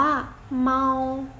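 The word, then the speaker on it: 猫: ล่ะ คะ แมว ล่ะ มี คำ ว่า แมว ออก เสียง ว่า เมา เมา อ่ะ แต่ ว่า แมว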